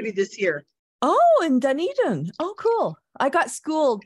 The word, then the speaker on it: Dunedin: going to all kinds of little places uh Dunedin and that's where the that's how you pronounce it that's where the conference is going to be this year oh in Dunedin oh cool I got schooled by my husband